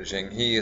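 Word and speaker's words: Zheng He: And then here especially, we're going to talk about briefly Jang Ha or Jenghi as some people pronounce it.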